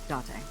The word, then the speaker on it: Date: I called you here to inspect the scene, Date. And it is Date. Yes, nailed it.